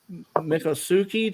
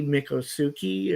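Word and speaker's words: Miccosukee: into the the uh is it the mikasuki tribe or whatever in Florida is if that's how you it looks like it's spelled m-i-c-c-o -s-u-k-e-e mikosuki or yeah but they you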